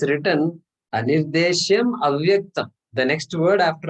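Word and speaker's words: अनिर्देश्यम्: Ye tu aksharam anirdesham. Ye tvaksharam anirdesham. Ye tvaksharam anirdesham. 8 syllables, correct? Yeah. 8 syllables. Okay. So we stopped exactly at that. Anirdeshyam. We stopped. Anirdeshyam is the actual word.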